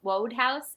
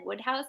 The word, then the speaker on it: Wodehouse: say Wodehouse, but I've always said Woodhouse, and I just can't bring myself to say Wodehouse, even if it's right. So like, I think it's 1,000% Woodhouse.